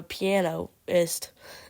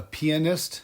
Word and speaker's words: pianist: to call it a Pianist it that's not how you say it's pianoist I'm pretty sure it's pianist okay whatever no no